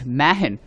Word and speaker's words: Mahan: let's go back to the pronunciation of my name it's Mahin and my sisters and